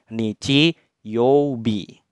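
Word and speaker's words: 日曜日: dibaca B nah ini menyatakan hari ya Minahasa dibacanya Nidji Yobi nah di tengah-tengah itu kanji itu menyatakan nama-nama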